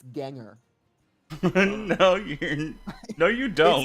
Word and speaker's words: Gengar: I think it's Ganger. No, you're No, you don't. It's Ganger. It's Ganger because it's You don't believe that? Because it's based on your doppelganger.